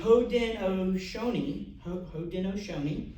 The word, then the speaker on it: Haudenosaunee: I wrote down how to pronounce it. It's the Haudenosaunee Confederacy, all right, which is a six-nation Iroquois